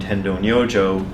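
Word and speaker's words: Tendō Nyojō: found this teacher named Tendo no Joe that's his pronunciation in Japanese it's not he's a Chinese guy and he pronounced his own name differently but it doesn't matter anyway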